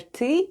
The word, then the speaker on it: ты: When you need to say "you are drinking" in Russian we say ТЫ ПЬЁШЬ /têê p'yosh/ where ТЫ /têê/ is "you" and ПЬЁШЬ /p'yosh/ is "are drinking";